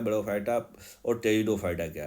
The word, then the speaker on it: टेरिडोफाइटा: टेरिडो P silent है यहां टेरिडोफाइटा।